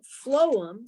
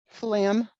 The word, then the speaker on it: phloem: so phloem okay p-h-o-l-e-m phloem there you go phloem it sounds like what flam yeah i love my